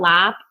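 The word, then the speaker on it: larb: Like they spell laap l a r b a lot of times and that's because a British person wouldn't pronounce that r.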